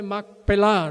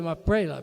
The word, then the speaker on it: Macpelá: Y todas las palabras en hebreo que terminan en H, ahí se le pone el acento.